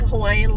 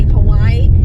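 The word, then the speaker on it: Hawaiʻi: or in between vowels, which is why you hear a lot of people say Hawaii as Hawaii. And it's actually mispronounced as well because the okina is in between 2 I's, not the A and the I.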